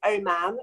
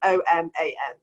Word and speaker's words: Oman: surprised over the years my surname is oh man and it's spelt like the country so it's oman right first and foremost